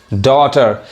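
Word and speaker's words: daughter: तक पढ़ाए autumn audio डॉटर यहां भी क्या है जीए साइलेंट है आगे इसके जस्ट उच्चारण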